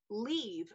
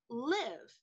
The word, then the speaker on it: Leave: It was Leave, not Live.